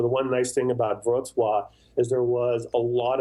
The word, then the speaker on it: Wrocław: So the W is a V, and the L, there's a L with a line through it. So Hmm. it's like Wrocław. But yeah, that's exactly how you pronounce it.